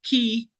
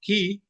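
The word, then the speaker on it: כִּי: represents the Hebrew particle key, which that's the way it's pronounced, key, uh, which sounds like it's a key thought.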